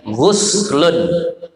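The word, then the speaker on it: غسل: dalam ucapan-ucapan ahli fikih, dhammu ghainihi, didommahkan ghainnya, ghuslun. Itu cara bacanya. Berarti kita niatnya nawaitul ghusla, ghainnya baris dhammah. Nah, nawaitul ghusla. Nah, lakinnal fatha afsahu. Tetapi kalau pakai bahasa dengan baris fathah itu lebih fasih. Dhammah lebih masyhur.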